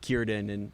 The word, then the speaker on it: Círdan: Pretty cool to kind of actually meet Círdan and see him. That's Yeah. how it's pronounced.